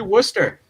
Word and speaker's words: Worcester: We have to Americanize this. Hey. Worcester. Yeah. No, it is actually Worcester. Yeah, Worcester. There we go. Worcester over here. Most people call it Worcester if you're not in New England.